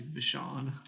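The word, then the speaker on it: V'saan: It's actually Vishon. Fish on. Vishon. Vishon, fish.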